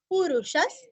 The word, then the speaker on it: पुरुषः: अभी आगे स है, इसलिए विसर्ग का उच्चारण हल्का सा स, पुरुषस्, सततोत, सततोत आधात थितः, थितः, विसर्ग का ह अथवा हा।